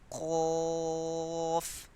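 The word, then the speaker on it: ق: Qaf, raise back of the tongue.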